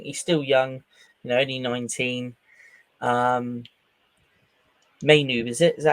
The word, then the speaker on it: Mainoo: Mainu, is it? Is that how you pronounce his name? Yeah, Mainu? Kobe Mainoo.